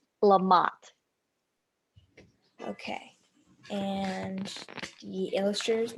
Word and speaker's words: LaMotte: So I just need help pronouncing your. It's LaMotte.